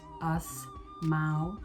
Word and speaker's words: Asmau: It's pronounced Asmau, like us.